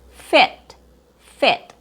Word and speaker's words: fit: The short I sound is not a shorter version of the long e sound. It's not fit. It's a different sound. It's a more relaxed vowel sound. E fit fit.